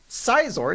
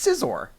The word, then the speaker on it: Scizor: but Scizor sounds lame he sounds like a pair of scissors and I get the